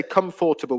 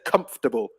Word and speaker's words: comfortable: that's um so yeah we don't really say comfortable we say comfortable okay so i'll take